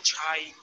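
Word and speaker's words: 差: Es el mismo carácter que cha, pero aquí se pronuncia chai.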